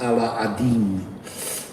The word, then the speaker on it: Aladdin: I listened the other day to 1001 Nights and I learned that Aladdin is actually pronounced Ala-Adin.